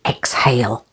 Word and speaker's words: exhale: the second syllable Exhilarate there is one exception and that is exhale to breathe out H yes that's a little clue that you say the H in exhale say exhale with the